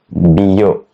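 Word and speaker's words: biyo: Now let's have a real example, which is very simple to understand, which is bio. Bio, it has two syllables, which are bi and yo. And together it sounds like bio, which means water.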